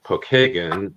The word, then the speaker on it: Pokagon: No, it's a Well, it's actually the name Pokeagan is how we pronounce it here in Indiana. Pokeagen is an Indian uh a Native American tribe.